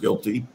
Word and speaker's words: GILTI: The act, as I see it, they've attempted to broaden the tax base by adding a new minimum tax known as the GILTI tax, pronounced GILTI, except for normal return on tangible asset investments abroad, such as factories and equipment.